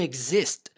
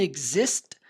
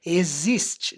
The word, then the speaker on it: exist: Então não tem o som do X do português. Exist. Não é existe.